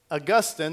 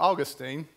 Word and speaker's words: Augustine: 3 a great Theologian Augustine or Augustine two different ways you can pronounce it somebody correct me after